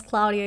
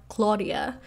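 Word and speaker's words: Cláudia: name is claudia but my name has an accent on the a you know without the accent it sounds a little bit different my name is claudia it's not claudia the accent is there for a reason and now accents work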